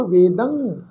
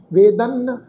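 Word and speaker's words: ਵੇਦੰ: गुरमुख नादंग गुरमुख वेदंग, इनू नादन वेदन कई नन्ने अखर की टोन च प्रनाउंस कर जाते हैं जी, नादन वेदन नहीं भाई, इदा नहीं, ये बहुत गलत प्रनाउंसिंग है।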